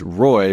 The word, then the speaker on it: Roi: AP PP or search Roy in the app store again their app is pronounced Roy but it is spelled Roi like return on investment so go check out